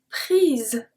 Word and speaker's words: prises: So here, because there is a E at the end, ES, we pronounce it because it activates kind of the S, prise.